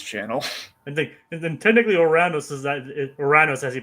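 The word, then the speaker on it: Ouranos: I think then technically Oranos is that Oruranos as he pronouncs it is actually the actual pronunciation of the dity that Uranus is derived from.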